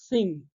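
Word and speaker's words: Qing: après ça sera les King enfin il paraît que le Q ça se prononce thinging next one alors ce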